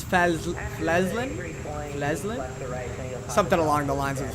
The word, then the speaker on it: Flesland: I used to say Fiesland, but I guess it's Flesland?